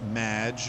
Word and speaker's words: Madge: have mispronounced my name it's madge which rhymes with badge uh as in duh